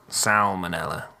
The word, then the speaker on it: salmonella: come it is salmonella you really pronounce the L in that salmonella salmonella salmonella salmonella